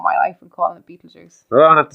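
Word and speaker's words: Betelgeuse: I saying it right no say what it's Beetle Juice I don't know what you're trying to say you pronounce you say it too many more times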